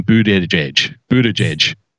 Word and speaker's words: Buttigieg: On Friday night, Buttigieg, his campaign T-shirts bear the phonetic spelling Boot Edge Edge. I am not pronouncing his name Boot Edge Edge. Buttigieg.